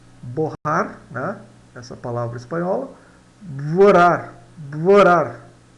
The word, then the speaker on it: borrar: Vorar, mais ou menos assim, tá? Vorar.